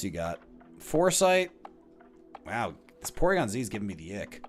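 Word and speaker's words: Porygon-Z: Ooh, Porygon Z, not pronounced Porygon Zed, by the way.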